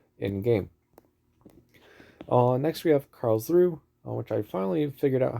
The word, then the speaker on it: Karlsruhe: Next we have Karlsruhe, which I finally figured out how to pronounce correctly.